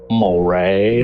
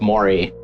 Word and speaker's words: Maury: incident, you're like, oh, they don't know it's pronounced Maury. The Maury. But it's like, no, I'm sorry, I've only read 12 books on the subject, and apparently in my head it's Maury.